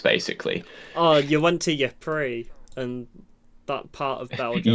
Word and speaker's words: Ypres: No, I think it is called Ypres. It's Ypres. Oh, is it? Yeah, that's how you Ypres. pronounce it. Oh, French. Yeah, it's French.